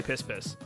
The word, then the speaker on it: Piss Piss: Anyway, that river is in Nicaragua, and Piss Piss is pronounced Pi Pi. Oh, I'm still gonna say Piss Piss.